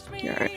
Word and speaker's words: Gillard: Giard, alright. It's spelled Gillard, but it's French.